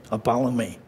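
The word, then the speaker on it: apollumi: rhymes with follow me Apollo me Apollo me it rhymes with follow me Apollo me that's a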